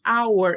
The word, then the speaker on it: our: our esse aí também muita gente erra a pronúncia our é igual como fala hora tá our significa nosso